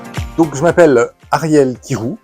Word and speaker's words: Kyrou: Donc, je m'appelle Ariel Kirou, ça s'écrit K-Y-R-O-U, comme ça se prononce pas.